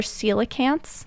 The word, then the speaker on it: coelacanths: as loped and fishes these are coelacanths that's how you pronounce that word or lung fish they're